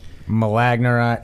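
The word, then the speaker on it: Milorganite: It's malagnorite. It's like spelled like Milo granite, but I think they pronounce it malagnorite or something like that.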